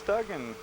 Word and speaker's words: Duggan: Not Dugan, it's Duggan.